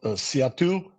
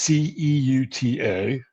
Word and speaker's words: Ceuta: So, how do you say it? Let me see here. I got to go into the Encyclopedia Britannica. It's Ceuta. And why don't we just take a look at it?